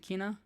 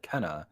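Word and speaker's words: Kena: canna kina i i don't remember what it's pronounced kina bridge of spirits is it kinah so the devs when they talked about it said kenna kenna when the person on the street talked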